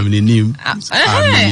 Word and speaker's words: Amininim: Am I pronouncing it correctly? Yeah, Amininim. Amininim.